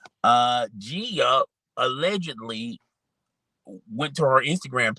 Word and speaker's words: Gia: now allegedly his wife Gia Casey let me pronounce that right because I used to call her Gina but it's kind of funny Gia is technically short for Gina but that's neither here